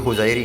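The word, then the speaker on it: hosiery: होजरी उद्योग किस जिले में है? होजरी। ठीक है? होजायरी कहते हैं इंग्लिश में।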